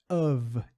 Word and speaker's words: of: E a gente percebe esse som do V, muito importante, pus isso aqui de propósito, nessa preposição of.